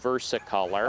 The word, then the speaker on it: versicolor: It's probably the turkey tail fungus, Trametes versicolor, and that second part of that name could also be pronounced versicolor.